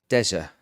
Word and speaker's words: Dezso: Dezso. Yes. Said it right?